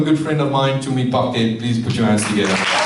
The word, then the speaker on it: Phake: Tumi Phake, did I pronounce it correctly? Phake, yes, is the founder and CEO of the Zenzele group.